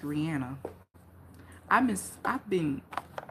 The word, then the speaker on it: Rihanna: She said it's pronounced Rihanna. I miss I've been saying Rihanna like for so long.